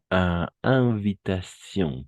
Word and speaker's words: invitation: Oui, comme situation, invitation. Sion. Toujours en sion, n'est-ce pas? On va prononcer sion, oui. Situation. Si termina en esas T y o N, para nosotros sion, mais en français, sion, na, un son nasal.